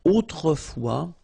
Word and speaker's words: autrefois: And then we get this autrefois, so it could be translated like in olden days or in olden times, okay? Autrefois, so A-U, autrefois, final S not pronounced, okay?